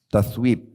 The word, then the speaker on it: tathwib: tathwib. Ya. Dia pakai tha. Kalau bahasa Arab itu ta, tha, ya. Ya, ba, tathwib. Waw, ya, ba.